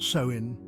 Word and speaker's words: Samhain: Spirits can cross over more easily samhan is pronounced soin it falls on October 31st right before Halloween